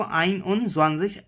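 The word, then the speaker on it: einundzwanzig: तो प्रोनाउंस कैसे करते हैं इसको? आइन उन ज़्वांज़िश. जैसे कि हमने देखा, प्रोनाउंसिएशन सेम है और लिखने का भी एक पैटर्न है.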